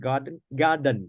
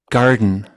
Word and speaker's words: garden: But normally they don't say garden. They say to the nose. Garden. Now listen. Garden. Hear that? Garden. Garden. Garden. Two syllables, not garden. Garden is just one syllable.